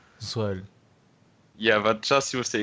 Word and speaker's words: Zoll: In English is correct. In German it's Zoll. Zoll.